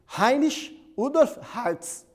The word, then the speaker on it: Heinrich Rudolf Hertz: O Heinrich Rudolf Hertz, ou como a pronúncia mais próxima do nome dele em alemão, apesar dele ser um austríaco, Heinrich Rudolf Hertz.